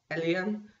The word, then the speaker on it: Eliam: I say it Eliam, but my husband, since he speaks Arabic, he really knows how to say it better, and he says it's like Eliam. I think that's how you pronounce it, Eliam in Arabic.